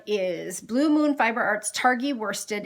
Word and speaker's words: Targhee: If you have not knit with, and I think it's pronounced Targhee without the G, but I always say Targhee, Targhee yarn, and it is, let